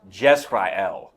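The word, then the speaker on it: יזרעאל: It sounds like the word Israel. In Hebrew, it's pronounced Yisrael. In Hebrew, it's pronounced Jezrael.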